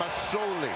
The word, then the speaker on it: Masoli: It's an S. Masoli. S, not a Z.